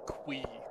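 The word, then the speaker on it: ConcernedApe: I think Concerned Ape said his name is actually pronounced Quee.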